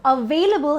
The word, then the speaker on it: available: You have to remember the V rule, which we have been talking about in the consonant sounds. Whenever there is a V in the pronunciation, you're supposed to bite it. So available has a V in the middle, available. Available, and the label becomes libel. So available, not available.